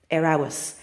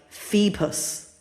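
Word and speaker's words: fheabhas: So, if you're an English speaker, you might be like fee-pus or f-f- a b h us.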